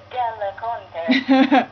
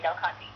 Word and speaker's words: Del Conte: Well, if you speak Italian, I believe it's Del Conte. But I do not, so I say Del Conte.